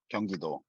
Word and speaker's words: Gyeonggi-do: Like Gyeonggi province, is that right, Hyukjun? Yeah. If you're saying in English, Gyeonggi province. If you're saying in Korean, Gyeonggi-do. Gyeonggi-do.